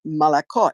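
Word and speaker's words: молоко: is spelled m-o-l-o-k-o Moloko Malacca in Russian you have to say you only say a true o on the last accented syllable now in Ukrainian my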